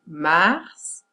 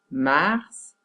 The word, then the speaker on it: mars: Mais bien évidemment, il y a des exceptions, comme par exemple les mois de l'année mars, il faut prononcer les S, mars et fils.